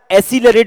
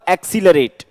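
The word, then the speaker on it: accelerate: आप इसको अगर एसिलरेट बोलते हैं, A double C ई एल ई आर ए टी ई, एसिलरेट, तो आप गलत बोल रहे हैं, इसका सही प्रोनाउंसिएशन होगा एक्सीलरेट। अ के बाद में आप क्या लगाएंगे, एक, और फिर सीलरेट। पहले सी की साउंड कै पे जाएगी, दूसरे सी की साउंड से पे जाएगी।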